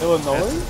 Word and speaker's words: Illinois: Illinois? S is silent.